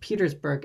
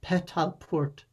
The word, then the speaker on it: Petersburg: Dehoda's illiterate narrator mispronounces Petersburg as Petalport, but this also means, according to Dehoda's own later dictionary of Persian, far and wide.